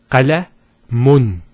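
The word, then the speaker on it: قلمٌ: If we put two dhammas, it will be pronounced as qalamun. Qalamun. So notice the noon sound at the end.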